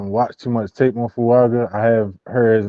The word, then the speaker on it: Fuaga: Can you say Fuga? Who was it? How you say his name? At 20? I don't know how to say his name. I'm not gonna butcher it. oh, Fuaga.